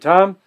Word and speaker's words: Thom: find lots of David Tom it's a silent h t h o m and the barbecue Uncle